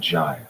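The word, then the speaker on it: gyre: cannot hold and quote it's the word gy that interests me here and if I slip up and say guy with a hard G today let's just move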